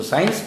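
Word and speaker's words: science: आज आपको जवाब मिल गया कि यदि एस और आई के बीच में सी रहेगा तो साइलेंट हो जाएगा। जैसे एस सी आई ई एन सी ई, हम इसको साइंस पढ़ते हैं।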